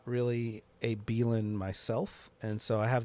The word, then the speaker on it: Belan: listening out there like I do pronounce it belan yeah okay yeah I wasn't sure it was bellan or belan yeah belan and you